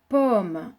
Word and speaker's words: pomme: Alors, pomme, le son O aura peut-être encore posé des difficultés à certains d'entre vous. Le O, on l'appelle le O ouvert et il s'écrit avec la lettre O, comme si on écrivait pomme.